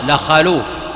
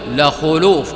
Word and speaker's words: لخلوف: الله من ريح المسك، بضم الخاء، حتى إن بعض العلماء خطأ من يفتح الخاء لخلوف، قال لخلوف، وإن كان بعضهم يقول إنها لغة ضعيفة، لكن عليك أن تنطق تلك الكلمة فتقول لخلوف بضم الخاء دون فتحها، لخلوف فم الصائم أطيب